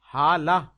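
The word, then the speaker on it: ہالہ: جواب، حالہ کا اصل تلفظ حالہ الف کی جگہ ہا کے ساتھ ہے۔ اس کا معنی چاند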